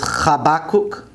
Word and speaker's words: חבקוק: Habakkuk is Chabakuk, Chabakuk.